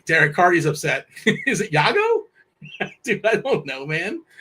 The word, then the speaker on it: Iago: You said Lago. And it's Yago. It's Yago. Yeah. Okay. Well, how does it is it spelled with an L though? No, it's like I A G O or something.